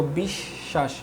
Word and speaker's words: বিশ্বাস: কি উচ্চারণ হচ্ছে না কিন্তু যদি বফলা শব্দের মাঝখানে বা শেষে থাকে তাহলে ওই শব্দটা দুইবার উচ্চারণ হয়। যেমন দেখো বিশ্বাস হ্যা এ পর্যায়ে দেখো যদি উত উপসর্গের সাথে বফলা যুক্ত থাকে তাহলে কি হবে?